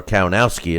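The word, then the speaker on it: Kownacki: It'll be Stavern and Kaunaki, or Kaunowski as they pronounce it, as the favorites, and Washington now that he beat Baby Miller.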